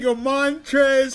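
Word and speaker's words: Montrezl: No way that my Montre Harold don't pronounce the L.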